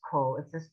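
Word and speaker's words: כל: There are a few words that are pronounced coal, instead of ah. If you pronounce it cow, nobody's going to hang you. But I'm just trying to tell you, you will hear it done the other way.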